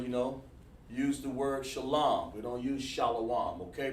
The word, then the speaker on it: shalom: man so you'll understand how to pronounce the word shalom instead of shallow it's a mispronunciation the reason why you're